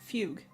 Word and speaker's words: Fugue: it's it's it's F Fugue fug I was adding like extra extra syllables okay I should probably